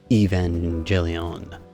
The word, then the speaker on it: Evangelion: CCS toys top right Evangelion final model the bottom sorry hard G right there but it is gorgeous